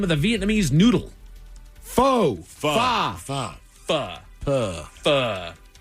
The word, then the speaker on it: Pho: Pho. Pho. Pho. Pho. Pho. Pronounced as the Vietnamese themselves do it.